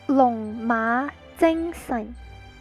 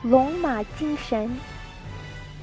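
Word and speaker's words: 龍馬精神: Long Ma Jing Sun. That's the Cantonese. Long Ma Jing Sun. Mandarin is pronounced Long Ma Jing Shen.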